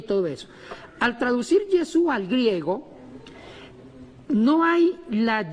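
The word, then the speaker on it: ישוע: Yeshua. O Yeshua, ¿cómo Estamos se ahí.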